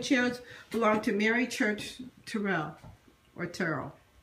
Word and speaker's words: Terrell: As well as the table and chairs belonged to Mary Church Terrell, or Terrell. It's pronounced it Terrell. Terrell.